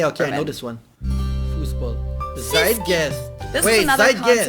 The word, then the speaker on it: Zeitgeist: Americans usually say Zeitgeist. In German we pronounce it Zeitgeist, Zeitgeist.